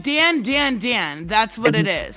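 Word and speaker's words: Dandadan: It's like Dan Dan Dan.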